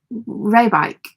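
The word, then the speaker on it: Rijswijk: Think of like this one as Raywick, with the wick pronounced like bike. Raybike.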